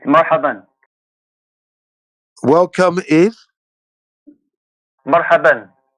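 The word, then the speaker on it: مرحبا: It's marhaban. Welcome is Marhaban. Mahadan.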